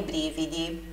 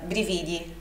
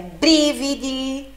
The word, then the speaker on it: brividi: Nudo con i brividi, nu com os arrepios. Nós tendencialmente leríamos essa palavra brividi como brividi, né? Mas a pronúncia é brividi, ok? Brividi, sílaba tônica, sílaba forte na primeira sílaba.